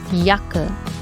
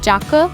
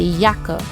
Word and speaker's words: Jacke: have the letter j the letter J is pronounced as yach in German once again yacht and Yacht state for yaka once again yaker yaker means jacket one important